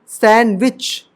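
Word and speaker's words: sandwich: रहता है ठीक है कैसे देखो फॉर एग्जांपल सैंडविच अब य डी साइलेंट है देखो क्या बोलर है एन से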